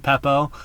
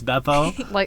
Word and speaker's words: Beppo: It's because it's B, and I keep saying Peppo, and it's Beppo.